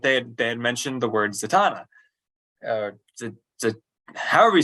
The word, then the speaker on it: Zatanna: it was but they had mentioned the word Zatanna uh however you say I say Zatanna I like the Donna too but it had pronounced it zetna which is the strangest pronunciation I've heard of